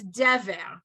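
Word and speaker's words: דֶּבֶר: What it means is that you put the emphasis on that syllable. So Oh. when you see, and you're learning this for the first time, when you see it, it's dever, right?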